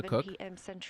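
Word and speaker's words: Koch: It's it's it's pronounced Cook, but it's the German caulk, right?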